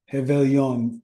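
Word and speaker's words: Réveillon: do you say um have Val on because you don't say the r like hey Ice aelon means New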